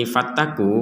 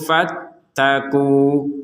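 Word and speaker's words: فَٱتَّقُوا: Di sini kalau kita berhenti fattaku, maka panjangnya itu dua harakat. Contoh walan taf'alu fattaqu.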